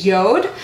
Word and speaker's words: Jord: or the J but the pronounce the right pronunciation is Yoda the way they taught me that is like